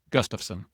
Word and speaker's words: Gustafson: Just in Nebraska, your last name would be pronounced Gustafson.